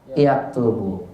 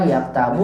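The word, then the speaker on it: يكتب: Kataba yaktubu dakala yadkhulu, kroja yakhruju. Demikian kita bacanya. Akala yaakulu qotala yaaktulu. Kita enggak baca kataba yaktabu atau kataba yaktibu.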